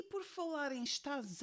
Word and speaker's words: estás: em estaz à janela já reparaste bem na maneira como eu pronuncio o último S da palavra estás se tu já estudaste português então Já sabes que quando está no fim da palavra a letra s é pronunciada como X então E porque é que neste caso eu estou a dizer está Z janela portanto estou a pronunciar aquele S como se fosse um z porquê se não